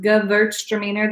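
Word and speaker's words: Gewürztraminer: start from the bottom Gewurztraminer that's how that's pronounced good lurch demeanor the W is a B yeah we're gonna exit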